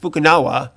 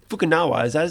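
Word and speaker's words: Fukunaga: bond fan a guy directing it kerry joji fukunawa fukunawa yeah i think that's how you say it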